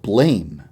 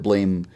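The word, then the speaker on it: BLAME!: massive oh it's actually pronounced blam but i will continue continuously up and call it blame on accident whoops sorry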